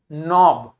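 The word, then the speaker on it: knob: फिर एन लिखा है तो के को प्रोनाउंस नहीं करेंगे क्या हो जाएगा नोब क्या हो जाएगा नोब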